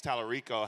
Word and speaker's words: Tallarico: My question to you is, what does James Tallarico have to do? Did I pronounce his name right? Yes.